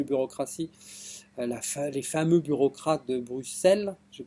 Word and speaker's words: Bruxelles: Les fameux bureaucrates de Bruxelles, j'ai prononcé correctement, Oui.